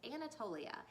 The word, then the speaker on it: Anatolia: Now, I had to look up the pronunciation of that name to make sure I was saying it right, but it's Anatolia.